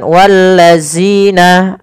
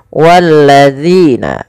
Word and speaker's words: الذين: sini pada lafal zina, hati-hati di dalam melafalkan huruf zal. Jangan sampai kita membacanya menggantinya dengan huruf zai. Misalkan wallazina, ini salah. Kenapa? Karena dia merubah huruf zal menjadi huruf zai.